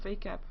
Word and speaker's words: VACAP: is written VAP VAP no vacap like vacation but then vacap that's how it's written oh I'll just call